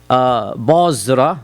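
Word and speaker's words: Busra: Any reference of Basra, which is how it's pronounced, in the Sirah literature is to a small town south of Damascus.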